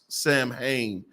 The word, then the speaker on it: Samhain: this school is Samhain, is how you would pronounce Samhain.